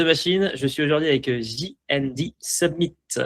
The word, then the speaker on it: J&D Summit: Je suis aujourd'hui avec JND Submit prononcé à l'anglaise.